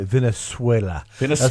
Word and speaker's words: Venezuela: Well, and I love the way you said, because you said it right, Venezuela.